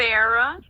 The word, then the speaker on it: Nffera: Nffera. Nffera. It's like Nefertiti, but Nffera.